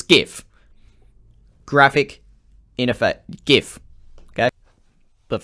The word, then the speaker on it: GIF: I'm going to discuss the correct pronunciation of GIF. It's GIF.